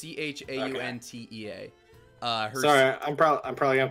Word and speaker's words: Chauntea: I think it's pronounced Shantea. It's Chauntea.